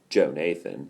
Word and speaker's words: Jonathan: Some people pronounce it that way, but it's actually Joe Nathan.